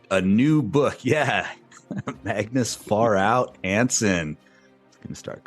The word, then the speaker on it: Pharao: We are, is it Pharaoh or Pharao?